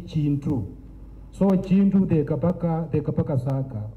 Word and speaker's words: Kintu: When you pronounce it as Pakiswahili accent, you say Kintu. that K in Luganda is G. You say Chintu.